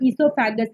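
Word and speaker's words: oesophagus: फिर आगे चलता है ईसोफेगस, इसकी जो स्पेलिंग है ओ से शुरू होती है बट इसका नाम ईसोफेगस है, इसको दूसरा हम फूड पाइप भी कहते हैं।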